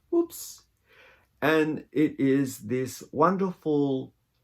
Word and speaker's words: Oops: The color's called Whoops So it's spelled OOPS. Whoops.